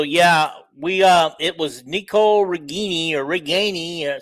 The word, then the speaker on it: Ragaini: And okay, So yeah, we it was Nico Regini or Regani. Say it properly. Ragaini, according to his mother.